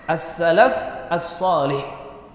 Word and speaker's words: as-Salaf as-Shalih: disebut Salafus Shalih ini yang banyak hwe keliru dalam pengucapan yang benar kalau yang dimaksud adalah pendahulu kita yang sholeh salahnya pakai alif lam as-salafush Shalih as Salafus Shalih as-salaf as-shalih itulah para pendahulu kita